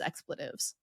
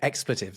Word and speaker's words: expletive: And it has that lovely assonance, that repetition of the E sound when you say it the way I say it.